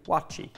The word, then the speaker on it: waakye: The dish is spelt W-A-A-K-Y-E, pronounced, to my understanding, wachi.